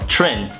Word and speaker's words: Trinh: So my name is Chit, or Trin. That's how you pronounce it in English.